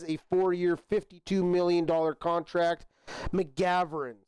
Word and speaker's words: McGovern: Connor McGovern is going to be the center going forward for the Bills as he resigns a 4-year $52 million contract. McGovern, sorry, I missed the G in that pronunciation.